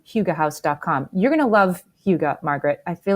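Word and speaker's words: hygge: Danish this holiday season and try a little Huga.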